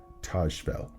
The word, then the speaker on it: Tajfel: And that brings us to social identity theory by Henry Treifel. Some people pronounce it Tajfel.